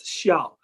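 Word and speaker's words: 肖: side of the character, which we pronounce as Xiao instead of Zhao.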